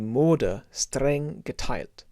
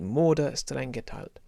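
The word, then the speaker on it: Mode: t tilt yeah and morder almost uh like the english name english english woman's name maud morder murder not murder murder vas vas de moda great and you can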